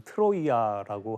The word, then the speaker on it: 트로이아: 영화 트로이드 보셨죠 우린 근데이 이름을 트로이라고 보통 얘기하죠 근데이 트로이는 영어식 발음이라고 할 수 있고요 오늘 이야기에서는 고대 그리스에서 쓰던 지명 그대로 트로이아라고 하는데 트로이어라는 이름으로 제가 한번 강의를